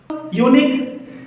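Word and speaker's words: unique: क्योंकि मुझे अंग्रेजी का पहला अक्षर नहीं देखना है, बल्कि इसके उच्चारण का पहला अक्षर देखना है। अब उच्चारण क्या होगा, लिखे यूनिक। तो यूनिक आप यह ध्यान से देख पा रहे हैं कि पहला अक्षर क्या है, य से यज्ञ, यह है ना।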